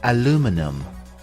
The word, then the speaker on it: aluminum: The American English pronunciation is aluminum. Aluminum. And in British English, it is called aluminium.